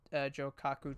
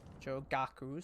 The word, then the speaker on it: Jogaku: Right, so we're going to head back to the Jokaku Temple. Jogaku, sorry. Pronouncing it wrong.